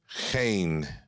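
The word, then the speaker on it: חן: eyes of the lord the hebrew word cain cain it's spelled c-h-e-n but it's cain and it means delight goodness kindness go go over there to genesis chapter 39.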